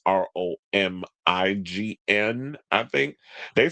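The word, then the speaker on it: Romijn: Y'all spell Romaine's last name wrong. It's Romign, I think.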